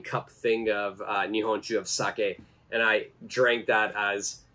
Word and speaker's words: sake: the pronunciation is wrong it's not saki but it's sake sake and sake actually